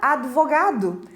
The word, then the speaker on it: advogado: outro exemplo clássico é a palavra advogado tem um de mudo mas não é nenhuma nem duas pessoas que acabam pronunciando essa palavra de forma errada e falando advogado é certamente você já